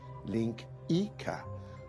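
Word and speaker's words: linguiça: It's spelled linguica, but it's pronounced link Ika, which is probably why they call sausages links, now that I think of it.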